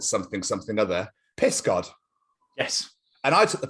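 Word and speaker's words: Pysgod: Because Tenby is called something other, Piss God. Yes. And I took the piss, literally. And I actually pronounced it correctly. And I was like, oh, it actually is Piss God.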